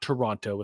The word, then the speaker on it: Toronto: And that's the proper pronunciation, not Toronto. It's Toronto.